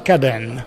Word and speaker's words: Kadın: Allora, cominciamo a parlare subito del titolo di questo spettacolo, spero di pronunciarlo bene, Kadın. L'hai pronunciato benissimo, è una parola turca, significa donna,